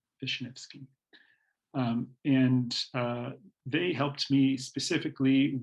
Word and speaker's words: Vishnevsky: trail maintenance work, Julian Vishnevsky. And I know that that's how his name is pronounced because I asked him, Vishnevsky.